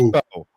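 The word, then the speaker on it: Mbow: Marcus, I believe the M is silent in the last name. Marcus Bowe.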